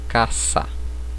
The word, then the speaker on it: casa: No espanhol esse S ele não terá som de Z. Por exemplo, casa, eu vou pronunciar caça, certo?